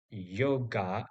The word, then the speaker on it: yoga: g a yoga Ah the ending a is not this a but rather the previous uh sound that is awah. So in Sanskrit we pronunciate the word yoga as yoga.